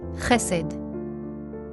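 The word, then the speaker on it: חסד: This is how these two words are pronounced. Charis. hesed.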